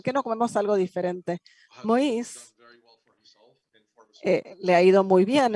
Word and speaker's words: Moïse: Entonces, un buen amigo para que para aquellos de ustedes que conocen los nombres, bueno, no es Moisés, sino Moïse, porque es la pronunciación francesa de Moisés.